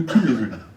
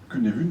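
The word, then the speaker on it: Cynefin: Alors, certains d'entre vous connaissent peut-être le principe de Cunevun. Cunevun parce que, évidemment, c'est un Gallois qui l'a fait et ça ne se prononce pas comme tout le monde.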